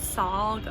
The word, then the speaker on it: Sahl: for our our guide saul and that's spelled s-a-h-l not s-a-u-l like saul like paul um i hired